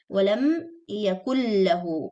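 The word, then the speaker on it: وَلَمْ يَكُن لَّهُۥ: Walam yakullahu. This noon is not pronounced because it's complete idgham. So noon is completely skipped and lam is doubled.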